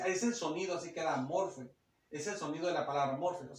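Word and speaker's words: μορφή: les dije ahí aparece una palabra griega que es la palabra que se pronuncia morfe Así es el sonido así queda morfe es el sonido de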